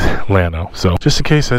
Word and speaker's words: Atlanta: are in Atlanta and thank you to the gentleman who told me I was pronouncing uh Atlanta wrong I used to call it Lano it's Atlanta so just in case